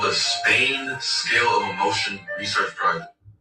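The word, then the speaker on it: SPANE: The study is called the Spain Scale of Emotion Research Project, and that's spelled S-P-A-N-E.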